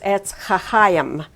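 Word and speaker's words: עץ חיים: And the tree of life is, as I said before, is etz chachayim. The im sound at the end of a word is one of the ways to go plural in Hebrew.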